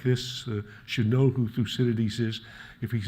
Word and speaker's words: Thucydides: a clue so let's say an outlet again thucinities thucinities so you should not stumble over that yes